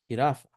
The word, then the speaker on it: jirafa: And this sound ha is al- also found in g e and g i like in gelatina and in jirafa. Jirafa.